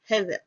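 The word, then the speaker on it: הֶבֶל: Abel or Hebel is found in Strong's H1892 and is pronounced Hevel.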